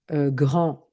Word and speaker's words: grand: C'est un grand jardin, c'est une grande maison. Et au niveau de la prononciation, je n'entends pas le D grand. Et quand j'ajoute le E, je prononce le D.